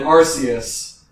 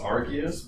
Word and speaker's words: Arceus: I always thought his name was pronounced Arceus, but I guess Arceus.